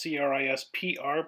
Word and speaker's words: CRISPR: with this process called crispr that's why it's pronounced c-r-i-s-p-r but pronounced crispr um this is like going